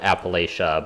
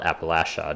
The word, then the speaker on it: Appalachia: oh did you um this is a contested pronunciation um I've always called it Appalachia but my understanding is that people who live there call it Appalachia did you um grow